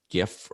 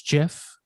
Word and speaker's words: GIF: So I would argue he's wrong, and it's actually GIF. GIF, yeah. But according to the guy who invented it, it's GIF, like the peanut butter.